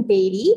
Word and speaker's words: Beattie: Next, we have the writer for NCIS New Orleans, Beatty. Hope I pronounced your last name right.